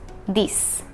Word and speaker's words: dix: 10 is pronounced just like 6. So, six, dix.